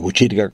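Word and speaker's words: Botkyrka: Este nombre de Buchirca, si se escribe en sueco, se escribe con una K y una Y. O sea, usted diría radiobotkirka.se y Radio Botkirka, Radio Buchirca como se leería, o Radio Buchirca como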